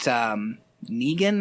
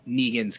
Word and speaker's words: Negan: They meet Negan, I think is how it's pronounced. Yes. It's like Megan with an N.